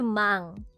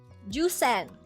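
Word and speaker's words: 万: Okay, so we go now to Mang. So what? Ow. So after 9,000, right? After 9,000, we have 10,000. And we do not say juen.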